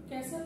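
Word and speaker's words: castle: এখন আপনি ক্যাসেল হলো প্রাসাদ, অনেকে ভুলে ক্যাস্টেল বলতে পারে।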